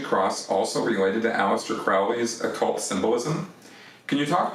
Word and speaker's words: Crowley: the occult and uh aleister crowley and uh or crowley i think is is actually how you pronounce that um and the